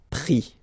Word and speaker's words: pris: And then prendre, so e-n-d-r-e, will give is, pris, okay. Same thing here, you don't pronounce the final s, okay.